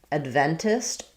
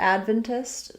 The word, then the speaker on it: Adventist: If I'm saying it the first way with first syllable stress, I'm going to have the a vowel, Adventist, which is going to sound like a clear ad. And then because I'm stressing on the first syllable, my ven syllable is going to be more like vin, or just even vin, Adventist.